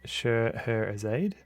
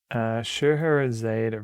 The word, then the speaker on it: Scheherazade: Scheherazade rhymes with sod.